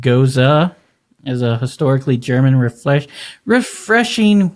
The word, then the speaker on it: Gose: A geuze, pronounced goza, is a historically German refreshing wheat beer that is only slightly tart.